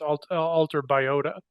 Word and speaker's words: AlterBiota: I think it's alterBiota. yes, I said biota, so That's okay.